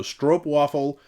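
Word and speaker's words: stroopwafel: said oops right because the double O's are pronounced as along oh so strop waffle oops that's how that works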